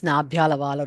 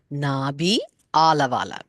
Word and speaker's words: Nabhyalavala: So the way we have to pronounce is Nabhyalavala Romali Lata Phala Kucha Dvayi. But for understanding sake, where it says Nabhyalavala, we can think of it as Nabhi Alavala.